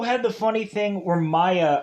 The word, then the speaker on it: Mia: the funny thing where maya or mia uh i wanna say it's mia cause i think that's the correct pronunciation of this name so let's get it